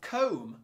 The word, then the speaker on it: comb: OMB, so take comb, like a hair comb. Ohm.